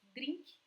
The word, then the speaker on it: drink: You know, a cocktail, in Portuguese, we use the word drink, like this. We pronounce it like this, drink.